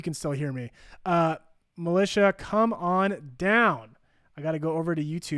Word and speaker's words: Melisha: to try it again so it's it's militia it's m-e-l-i-s-h-a and then is kind